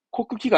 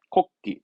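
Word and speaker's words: 国旗: 없고이 정도입니다 그렇죠 국기입니다 발음은 걷기 코쿠키가 아닙니다 코끼리 국기에 코끼리 그렇죠 기수 그 올림픽 경기할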